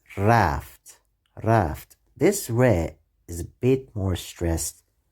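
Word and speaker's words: ر: letter this letter is re is the 12th letter of the persian alphabet this letter sounds like r in english but it should be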